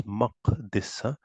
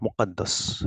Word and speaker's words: Maqdis: Now this is not Muqaddas that we read it as Baitul Muqaddas. No, it's Baitul Maqdis. That's how the right pronunciation will be.